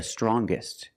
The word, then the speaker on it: strongest: or the youngest, the strongest. When we change these adjectives with e r or with est t, we're going to pronounce the g sound, the hard g.